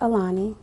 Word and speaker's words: Aolani: baby's name name Alani how it's pronounced it's pronounced Alani how did you come up with that spelling